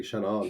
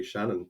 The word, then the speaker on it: Seanán: In the south of Ireland, they pronounce it with a strong emphasis with the "aw," right? So they say Seanán. Seanán. In the north, you don't pronounce the fada so much. So Ulster Irish speakers would say Shannon.